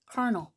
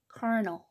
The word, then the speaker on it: carnal: 관능적인, carnal. 그러니까 이제 세속적인이라는 뜻까지 파생이 되는 거죠. 발음 보세요. 여기에 강세가 와요. carnal. 자, carnal 이렇게 되겠습니다.